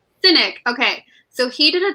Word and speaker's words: Sinek: How do you say his last name? Sinek.